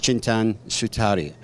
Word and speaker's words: Chintan Sutaria: And my first guest this morning is Chintan Sutaria. I think I've pronounced that correctly. You got it. There you go.